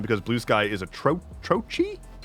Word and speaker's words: trochee: Siliconsole says, personal theory, Blue Sky will be more popular than Mastodon because Blue Sky is a trochi? Trochi? What is this word? Oh, type of word. Trochee.